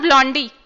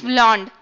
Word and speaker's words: blonde: Okay, now not blondie, it's blonde. Okay, okay.